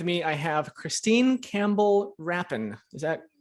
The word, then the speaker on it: Rapin: pacheco and with me i have christine campbell rappin is that pronouncing that right beauty you did good job